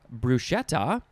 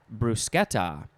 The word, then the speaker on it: bruschetta: this word uh so this book says it can be pronounced bruschetta or bruschetta but i think there